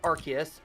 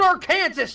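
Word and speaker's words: Arceus: a sudden I'm thinking this archus it's pronounced AR ftis you idiot4 star's freaking brilliant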